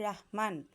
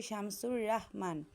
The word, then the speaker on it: শামসুর রাহমান: Cyclone কবিতাটি লিখেছেন শামসুর রাহমান। এই বানানটা তোমরা খেয়াল করবে, অনেকে আমরা রহমান বলি, এই বানানটা হবে শামসুর রাহমান।